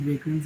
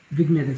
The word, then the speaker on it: vignette: Like let's just test with vagrants. Yes, it works. Just put a little, really low vagrants. Vignette, sorry, I keep pronouncing it wrong.